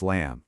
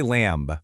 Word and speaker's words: lamb: We don't say lamb, right? It's just lamb. That B at the end is completely silent.